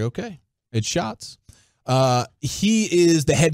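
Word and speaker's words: Schatz: uh spelled like shats but pronounced like shots I always thought it was chats I know I did too until I heard him say it for himself and I was like okay it shots uh he is the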